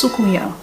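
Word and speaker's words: soucouyant: going to talk about sukuya it's spelt s-o-c-o-u-y-a-n-t pronounced sukuya according to wikipedia it's a shape-shifting caribbean folklore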